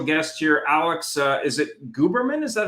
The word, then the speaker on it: Guberman: Is it Guberman? Is that how you pronounce it? Alex Guberman, yes.